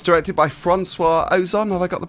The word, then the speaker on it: François Ozon: gay love story too, but it's directed by François Ozon. Have I got the pronunciation right? You're a big fan of the director? You got that spot on, yeah, François Ozon.